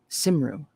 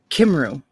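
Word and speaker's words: Cymru: and named their land simru wait is the sea a s or a i think it might be a hard a hard c sound c is always hard as in cat kimroo welsh and name their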